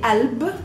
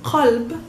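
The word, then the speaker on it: قلب: Heart in Arabic we say alb, Usually it's qalb, but in spoken Arabic and in most dialects we don't pronounce the qa, so we pronounce it just a simple glottal stop, alb.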